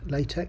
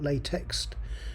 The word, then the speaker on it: LaTeX: your thesis so um it's not pronounced it's pronounced latex latch not latex and actually it started off as Tech and